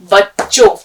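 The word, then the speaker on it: بچوں: अब देखिए, बच्चों में चे को हम दो बार पढ़ रहे हैं, तो कौन सा सिंबल उसके ऊपर लगा हुआ होगा? क्या चीज लगी होगी? तशदीद। तशदीद। बच्चों।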